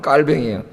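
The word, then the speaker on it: Calvin: 불어로 발음하면 깔뱅이에요.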